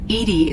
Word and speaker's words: EDI: airlock is ajar why are you named Edie Edie is the phonetic pronunciation of EDI that is an acronym for